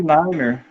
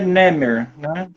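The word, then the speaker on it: Narmer: postar a tábua de marmeler na verdade é Nemer mas a gente na pronúncia correta né é Nemer mas a gente ficou meio aportuguesada assim né e coloquei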